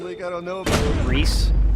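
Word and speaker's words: Rhys: Reese. I thought it would be pronounced Rice. It is pronounced Reese.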